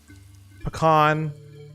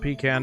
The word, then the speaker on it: pecan: Butter, pecan, not pecan, don't say it like that, that's wrong. Pecan pie with a little ice cream.